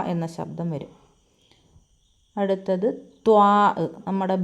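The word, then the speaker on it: ط: ളാദ് എന്ന അക്ഷരം ളാ എന്ന ശബ്ദം വരും അടുത്തത് ത്വാ നമ്മുടെ ബി എഴുതുന്നതുപോലെ ബിയുടെ വയർ ഇച്ചിരി കൂർത്തിരിക്കും ഉരുണ്ടിരിക്കും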